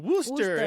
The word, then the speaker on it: Worcester: okay so anybody from Massachusetts they're all screaming woster into into the phone because there is a